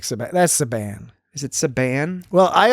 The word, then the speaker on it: Saban: That's Saban. Is it Saban? Well, I always in my head pronounced it Sabin, but this guy spelled like Sabin, right?